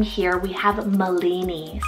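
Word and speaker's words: Malini: then for another M name here we have molini spell m a l i n i molini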